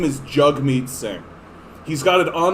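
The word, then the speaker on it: Jagmeet: the man's name is jugmeet singh he's got it on his twitter even where he's like jug me pronounced like hug me right and so he knows that people say jag mean i've been told by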